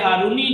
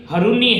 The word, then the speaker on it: ہرونی: میں پہلے تو آپ لفظ ہارونی جو ہے اس کا تلفظ صحیح کرتے ہیں کہ یہ اصل میں ہرونی ہے، کیونکہ ہرون ایک گاؤں کا نام ہے اور اسی کے اندر